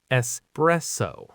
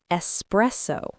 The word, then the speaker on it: espresso: Espresso. And the final syllable is just a clean O sound. So altogether, espresso.